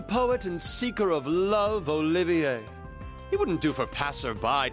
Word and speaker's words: Olivier: am the drifting poet and seeker of love olivier he wouldn't do for passerby to mistake me